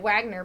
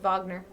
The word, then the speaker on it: Wagner: with um I think I actually had a teacher with the last name Wagner pronounce we we pronounced it Wagner but I wonder if they were they have like German history in their family and it would have at one point been pronounced Wagner uh the guest house